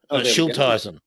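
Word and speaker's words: Schilthuizen: think if you're going to there it is pronounce that surname for me uh shul tyson schilteisen there we go menno schulteisen magic magic how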